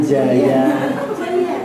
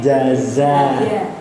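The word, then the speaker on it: جَزَاءً: Jaza, huruf Z gitu, ampun jadi jaya, tapi jaza.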